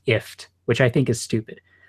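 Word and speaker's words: IFTTT: Apparently, when they added the OnHub integration, Google went out of its way to say, by the way, the company's name is pronounced IFT, which I think is stupid.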